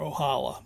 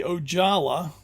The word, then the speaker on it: Ojala: Uh, I think it might be Ojala, uh, which would be, I think, the Finnish pronunciation, but I'm sure some Finns can set me straight on that.